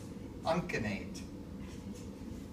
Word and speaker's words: uncinate: unate or the usate uncinate yeah I never yeah it's it's hard CU I this is a hard C okay so comes on